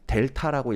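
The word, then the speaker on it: Δ: 요거 읽을 때 어떻게 읽냐 하면 델타라고 읽어요.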